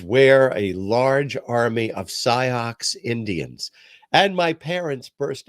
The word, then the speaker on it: Sioux: And my mother said, no, it says Sioux. I said, but it has an X in it. Because I hadn't heard it pronounced.